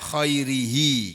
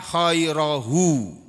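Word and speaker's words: خَيْرِهِ: anta kastautanihi as'aluka min, kalau ada minnya membacanya khairihi, kalau enggak pakai min as'aluka khairahu, karena ini adalah fi'il dan fa'il, ini maf'ulnya. Kalau as'aluka min ada minnya, maf'ulnya berubah jadi majrur, min khairihi. As'aluka min khairihi atau as'aluka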